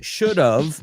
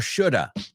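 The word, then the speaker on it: should've: So, should have is should have or should have when we pronounce it, just so you know. But don't write it o that apostrophe ve sounds like of.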